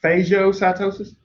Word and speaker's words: phagocytosis: Phagocytosis, also sometimes pronounced phagocytosis. I learned phago. Maybe phagio is a more proper pronunciation, but remember, I went to school in the South, so there you go.